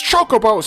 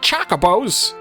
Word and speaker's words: Chocobos: bows in the final your pronunciations are wrong it's chocobos not Chaka bows that sounds familiar for